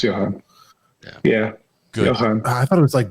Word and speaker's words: Johann: Yeah, it's Johann.